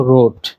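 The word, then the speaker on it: rot: বাংলাদেশের পতাকার মাঝের লাল তো লালের ডেজ হলো রোড লালের ডয়েজ রোড যেটার অর্থ লাল ইংরেজিতে যেটা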